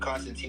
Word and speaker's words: Constantine: Constant. Not constantly, but Constantine like this spelled in the chat. Yeah. Constant. Yeah. Constant. Constantine. Teen. Okay. I N E. T I N E. Constant teen, right?